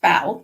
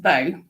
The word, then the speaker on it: bow: word in English um the word spelled b w it can be pronounced bow to mean Bend forward or it can can also be pronounced bow to mean um shooting um the weapon they use for shooting arrows or ribbons and the meaning and